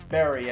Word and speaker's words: Bury: we did one with Bury as well, or Berry, as I've now apparently been told is how it's pronounced.